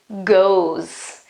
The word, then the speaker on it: goes: is he or she goes I can really hear in my pronunciation I can't really hear that e but when I write have to pay attention and put the e ass okay goes is